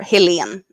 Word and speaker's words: Helene: So the pink one is Helen, or Helene, as it would be pronounced in Swedish.